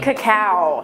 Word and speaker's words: cacao: I hate saying cacao. It makes me feel ridiculous, but I think it's the proper way to pronounce it.